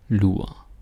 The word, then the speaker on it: lur: And there is again, I think there's an R, but you don't hear me say mur or skur or like mur, skur, lur. It doesn't happen, right?